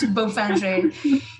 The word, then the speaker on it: Beaufinger: It looks like Bowfinger, but of course it is. Of course it's not. Pronounced Beaufinger.